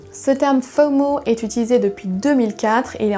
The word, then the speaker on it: FOMO: la peur de manquer vous devait prononcer les lettres comme c'était un mot pour mot et pas prononcé les lettres une par une ce terme faux mot est utilisé depuis 2004